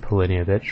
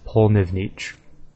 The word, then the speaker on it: Pollnivneach: I always said Pollnivneach for some reason, but it's not even spelled like that, so I don't even know why I said that. I guess I never really paid attention to it. But the correct pronunciation is Pollnivneach. It almost sounds like something Russian, I'd say, like Pollnivneach. It's sort of a cool word, actually.